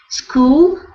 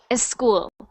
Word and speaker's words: school: attended good next one school okay good so when you were reading I was hearing a little bit of an E before the S sound like a school a school so careful School perfect